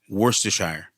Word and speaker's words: Worcestershire: there's a city there's a city called Worster wor in Boston that's what it is Worster Shire and you have to have a little twing with it wor s wor worst